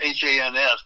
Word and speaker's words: Hans: It's H-A-N-S, but it rhymes with chance. Hans.